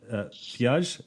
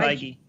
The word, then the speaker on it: Feige: The producer, of course, is Kevin Feige. Am I pronouncing his last name? Feige.